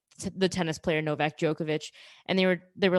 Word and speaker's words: Djokovic: But they were trying to then use like the tennis player Novak Djokovic, and they were like, okay, well, it annoys me when I hear Americans say his name because they just say Djokovic,